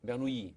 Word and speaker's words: Bernoulli: En castellano le dicen los hermanos Bernoulli. Bernoulli, ¿ya? ¿Qué hicieron ellos y qué pasó con ellos? ¿Qué aportaron en esta historia de la isoperimetría? Y en el idioma, en alemán, es Bernoulli.